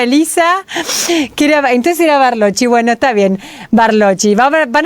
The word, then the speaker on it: Barlocci: bien muy bien gracias mi apellido se pronuncia barochi barochi Entonces yo le venía corrigiendo a Elisa que er Entonces era barochi Bueno está bien barochi